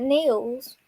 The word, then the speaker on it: Niels: How did you pronounce it, Soph? I pronounce it Niels. Niels.